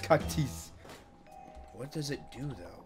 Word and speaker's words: Cac-Tease: It's pronounced Cac-Tease.